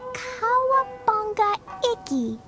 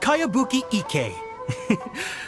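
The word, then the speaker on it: Kayabuki Ikkei: of it by cowabunga icky this is a really strange name who's this cowabunga it's pronounced kayabuki ike that would be me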